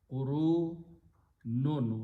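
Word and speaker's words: قُرُونٌ: Its plural is qurunun. Qurunun, with the noon has dhammas, two tanween, and it's pronounced as qurunun.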